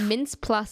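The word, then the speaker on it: Mintz-Plasse: Mama Duke funnily enough mince plus say it's spelled m-i-t-n-z mints Dash p-l-a-s-s-e so maybe it's plus it's like extra mints you got mince Plus there's also Matt Walsh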